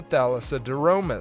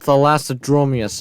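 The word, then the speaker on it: Thalassodromeus: wanting appearance is the thadis it's called thead dromus not whatever you pronounced okay man what is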